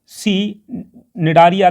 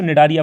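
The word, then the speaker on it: Cnidaria: हालांकि सी साइलेंट होता है तो निडारिया पढ़ा जाता है, आप यहाँ देखिएगा आगे, ठीक है।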